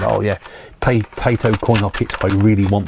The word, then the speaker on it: Taito: We pronounce it Taito on here. So I'm pretty sure it's Taito.